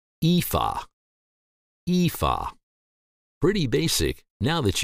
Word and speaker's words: Aoife: name you'll see that the a and o are silent and the name is simply pronounced EA EA pretty basic now that you know once more EA EA we'll see you